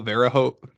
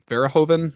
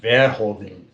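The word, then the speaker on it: Verhoeven: the great Paul ver I never say his name right Paul Vero verhoven verhoven yeah because he's like he's French is or Dutch okay I knew he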